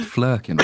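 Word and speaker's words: Flerken: what the what the it's pronounced flurin right they're reproducing on there so they're definitely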